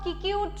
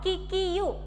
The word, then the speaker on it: Kikuyu: We should pronounce it not as Kikuyu, not, that is wrong, Kikiyu. Even though U is here, but in pronunciation we use the pronunciation called Kikiyu, not Kikiyu, okay, Kikiyu tribe.